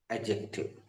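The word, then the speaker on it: adjective: इसमें डी का उच्चारण नहीं करते हैं।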